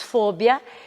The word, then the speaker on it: fobia: Fobia, em espanhol diríamos fóbia.